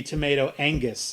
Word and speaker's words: Tomato Angus: he had to be tomato angus instead yes when when he when he introduces himself he's like hey my name is tomato Angus the G is silent that's clear he he